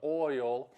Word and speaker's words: oil: Oil is two syllables in Southern. Oil.